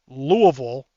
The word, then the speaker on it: Louisville: If y'all are in Louisville, and that's how you fucking pronounce it, Louisville, then get up, then fucking check that out.